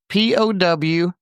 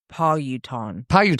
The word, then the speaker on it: Powhatan: So it looks like you pronounce it Powhatan.